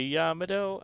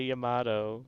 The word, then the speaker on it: Yamato: trying to say but you're not saying it right you say yamado i say yamato you see potato potato